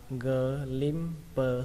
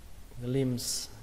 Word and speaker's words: glimpse: Từ này cách đọc thì cũng gần giống như cách viết, đọc là glimpse, sờ, kết thúc bằng âm p và âm sờ mà nhé. Khi đọc nhanh là glimpse, glimpse, glimpse.